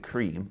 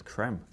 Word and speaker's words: Creme Egg: day and asked them how do you pronounce cream egg is it cream or is it creme and Cadbury replied saying it's creme creme egg who has a Creme